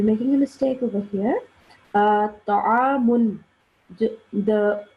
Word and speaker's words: طعام: Ta'amun. The sound of the meme here, we have to pronounce the noon sound at the end because